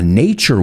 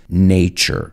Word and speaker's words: nature: a nature walk and be careful with the pronunciation there it's not natur or not it's nature so you'll need your